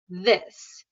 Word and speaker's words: this: So I would suggest not imitating that this sound and make sure that you exaggerate the this.